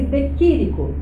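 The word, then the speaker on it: de Chirico: vez para de quírico pronuncia-se de quírico Ele é famoso no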